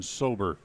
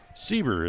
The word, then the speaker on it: Sieber: that'll bring up Tristan sober sober the center feeler sieber is the how they pronounce it and we saw a